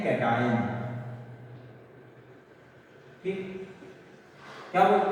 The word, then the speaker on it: cation: और कैट आयन नहीं पढ़ना, कैटायन पढ़ना, नहीं तुम लोग उठा कुछ भी पढ़ लेते हो।